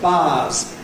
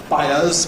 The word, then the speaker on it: buyers: it was reported that there were a lot of bars. That is, people buying things, buyers, but bar is also the noise that a sheep make.